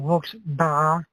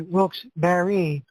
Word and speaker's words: Wilkes-Barre: I'm talking about that gentleman who pronounced it Wilkes-Barre. It's actually Wilkes-Barre.